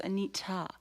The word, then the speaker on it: Anita: I said you know somebody said Anita should go excuse me it's a neat ah yes so I do